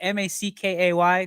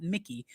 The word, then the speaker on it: Mackay: On this day in sports history, 1984, McKay, I guess. I don't know if that's how you pronounce it. Mackay, not Mickey.